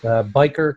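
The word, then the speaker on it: Byker: he holds the Gary and Henrietta is that pronounced biker yes biker chair and applied reformed theology and worldview trained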